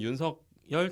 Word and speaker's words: 윤석열: 국민의힘 윤석열 당선자 어떻게 발음하신다고 했죠? 윤석열? 윤석열이 맞죠. 네, 그게 네. 표준법에 맞다고 하더라고요.